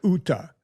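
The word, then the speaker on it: Jutta: Jake Paul dates Juta, but her name they pronounced it Uta. The JS Uta.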